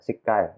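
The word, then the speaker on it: SIGCHI: Di tahun 1982 itu pada saat ya Special Interest Group on Computer Human Interaction itu dibentuk ya, SICAI, bacanya seperti itu, ACM SICAI.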